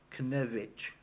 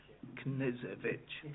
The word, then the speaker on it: Knezevich: So as the Neura representative, I wrote to Dragana, I will have Dragana Knevich, I think it is pronounced it, Knezevich, thank you very much,